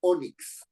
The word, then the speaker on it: ónix: Tengo la palabra ónix. ¿No? ¿Termina en N inicio vocal? No, termina en X. ¿Qué tipo de palabra es? Grave. Ah, entonces hay que poner el acento en la O.